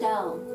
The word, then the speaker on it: pastel: Anyway, it's pronounced pestelle.